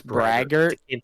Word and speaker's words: Braga: is it is it it's bra it's brager it's Braga but the first three letters is like bra bro learn the English